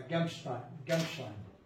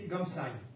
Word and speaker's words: Gamsheim: Une tête de pont, c'est-à-dire une poche, se forme alors au nord de Strasbourg, à Gamstein. Bon, vous m'excuserez pour la prononciation. Gamsheim, il n'y a pas de T.